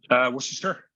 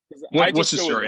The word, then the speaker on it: Worcestershire: And just for the record, how do you pronounce it? Worcestershire. So, is it Worcester? It's 3 syllables. Yeah. Worcestershire.